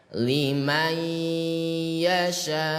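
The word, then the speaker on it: لمن يشاء: Mat wajib berarti wajib 5 harokat gitu. Kita coba baca. Liman yasha'u.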